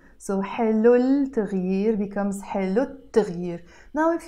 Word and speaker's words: التغيير: you notice in Arabic we write it التغيير but we don't pronounce it التغيير we pronounce it التغيير why because this T letter is a sun letter and every time you have a sun letter and you add L to a word you have to drop the sound